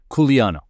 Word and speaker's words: Quliano: All right, another track breakdown here with just in case you're wondering how to pronounce it, he's got a nice little thing right here, Kuliano.